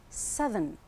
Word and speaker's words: southern: But when it changes to an adjective, it's southern. Southern.